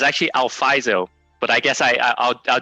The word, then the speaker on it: Alfizo: i get that question a lot it's actually alfaiso but i guess i i'll do alfizo as well as long as you can spell